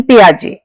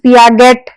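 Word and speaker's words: Piaget: Gene पियाजे इसको please पियागेट या जेट कुछ नहीं बोलना है। इसमें टी साइलेंट है।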